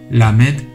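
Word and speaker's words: למד: 라메드, 라메드, 라메드, 라메드. 이 글자는 상황에 따라 R이나 L 발음으로 변형이 가능한 한국어의 리을 발음과는 달리 항상 L 발음을 내는 발음으로 알고 계시면 되겠습니다.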